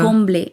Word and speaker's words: Comblée: Donc en en Colombie, ça se prononce comblé.